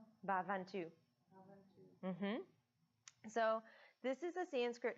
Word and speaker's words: Bhavantu: Yeah, Lokah Samastah Sukhino Bhavantu.